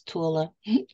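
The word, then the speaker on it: Thule: island that they call Tula t-h-u-l-e and that is the right way to say it is Tula and that there's that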